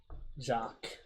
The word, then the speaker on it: Jacques: I believe the S is silent. Jacques.